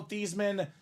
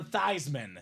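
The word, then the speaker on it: Theismann: Robbie and they said let's change your name from thian to thyman so they can campaign for thyman for the Heisman how awesome I turned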